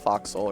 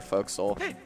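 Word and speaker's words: forecastle: First of all, she complained that it's pronounced foxhole or folks.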